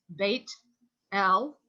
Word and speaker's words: Beth-El: We say Beth-El because it's sort of a linguistic drift. Would that be fair, Tori? It's like when people write the word Shabbat in English, they put Sabbath with a TH on the end.